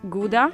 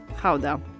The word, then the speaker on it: Gouda: this one behind me depending on whether you're a native you will pronounce it either gouda or chowda so since we're talking about authentic dutch cheese we're going to call it hauda the cheese takes its